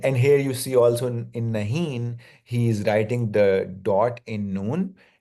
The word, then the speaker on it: नहीं: is like nasal without, it's not pronounced as a complete. So it's like nahi. And in modern Urdu, it is written without the dot, which is called noon-e-gunna, which means that the noon is not completely pronounced. It's just like a nasal sound, nahi.